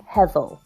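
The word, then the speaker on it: הבל: It's spelled Hebel, pronounced hevel, which loosely translates as a vapor or breath.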